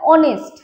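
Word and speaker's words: honest: দেখো অনেস্ট, honourable, honourable, আর, ঠিক আছে, এগুলো সবই কিন্তু আমরা উচ্চারণ দেখো এইচ গুলোকে সাইলেন্ট রাখছি। কি রাখছি? H silent. অনেস্ট, অনারেবল, আর এগুলোর এইচ সাইলেন্ট আছে।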